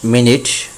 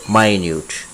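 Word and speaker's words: minute: সময়ের জন্য মিনিট, এবং যখন শব্দটি অ্যাডজেক্টিভের কাজ করবে তখন হবে মাইনিউট। অ্যাডজেক্টিভের জন্য কাজ করবে যখন হবে মাইনিউট অতি ক্ষুদ্র, এবং মিনিট এবং মাইনিউট অবশ্যই শব্দের উচ্চারণের মধ্যে পার্থক্য রয়েছে।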